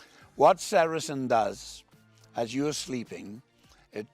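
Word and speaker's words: sericin: 18 amino acids an important one is called sarasin now you spell that s e r i c i n what serisin does as you sleeping it traps the moisture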